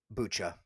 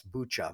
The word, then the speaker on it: Bucha: Okay, so let's talk a little bit about Bucha and war crimes.